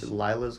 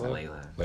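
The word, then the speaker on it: Laila: Was it Layla's Wisdom or Lila's Wisdom? Lila. It's Layla. It's Layla.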